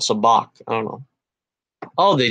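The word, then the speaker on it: sabacc: a joke because um you know Han Solo says something like Saavik which is the way I was pronouncing it all my life until he says now it's actually called soo bahk I don't know oh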